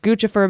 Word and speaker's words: Guccifer: Then there's Guccifer 2.0, which is pronounced Guccifer because it's a combination of Gucci and Lucifer.